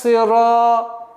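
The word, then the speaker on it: صراط: Ихдинас сирата. Та твердый.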